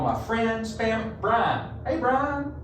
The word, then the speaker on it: Brian: Brian rhymes with wine. You know, well, Brian. That's how you B-R-I-N. make your turkey taste really good too. Is in a brine.